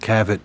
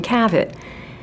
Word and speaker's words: Cavit: had a problem pronouncing Cavit. David was inspired to bring in Dick Cavett, a very popular late-night television host. They produced television, radio advertising, all with the tagline, "Ask for Cavett, as in Cavett."